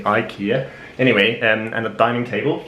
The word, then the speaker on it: IKEA: I mean, it should probably be pronounced Ikea, but in English I assume you would say Ikea.